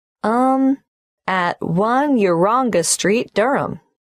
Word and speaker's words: Durham: how do you spell Durham d h a m of course I should know that but it's just one of those names that sounds quite different from the way you spell it it is confusing I've